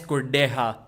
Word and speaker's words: Kurdecha: I know, like Alex KURDECHA. That's how his name is pronounced.